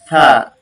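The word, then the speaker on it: ث: মাশাআল্লাহ, ওকে, আমরা সা, এর উচ্চারণটা হচ্ছে দুই দাঁতের আগার সাথে জিহ্বা একটু বের হয়ে আসবে।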